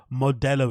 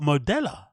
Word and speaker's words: Modelo: ] Latin culture right you should have an understanding of how Modelo is pronounced it's just one of those things that you kind of just understand right but modella one more time uh